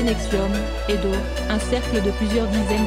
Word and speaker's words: NXIVM: organisations dont les deux principales la plaine 4 prononcé nexium une de plusieurs villes apam s'étaient notamment